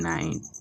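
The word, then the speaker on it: knight: শুরুতে যদি কোন ওয়ার্ডে কে থাকে এবং তারপরে যদি এন থাকে তবে কে এর উচ্চারণ হয় না কে এন আই এফ E knife K এন আই জি এইচ টি নাইট এ এর পরে যদি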